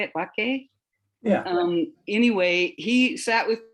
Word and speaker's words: Bakke: Bakke?